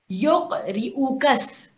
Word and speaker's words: يقرئك: अब यहाँ पे सारे के सारे ऑलमोस्ट जिन्होंने ठीक से तजवीद नहीं पढ़ी होती इसे बहुत गलत प्रोनाउंस करते हैं। ये क्या है? योक रिउकस, साथ पढ़िएगा, योक रिउकस, योक रिउकस सलाम व